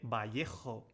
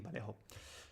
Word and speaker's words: Vallejo: In Spanish we say Vallejo. And English I think is Vallejo.